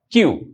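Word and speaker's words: queue: ওমোন was standing in দা কিউ। ওকে? এইটা তোমাদের pronounce করতে অনেকে দাঁত ভেঙ্গে যেতে পারে। কিউ কিউ। ওকে। আমি আরেকবার বলছি আচ্ছা কিউ okay this is হাউ ইউ প্রনাউন্সে কিউ কিউ মানে হচ্ছে কি স্যার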